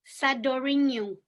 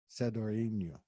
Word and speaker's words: Sadoriniou: Sadoriniou. Sadoriniou.